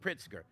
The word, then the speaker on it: Pritzker: Okay, pronounced Pritzker.